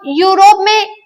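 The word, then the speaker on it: Europe: अब यहाँ पे जो है वो यूरोप में ई का प्रोनाउंसिएशन य हो रहा है और यह जो है वो कॉन्सोनेंट साउंड है ना।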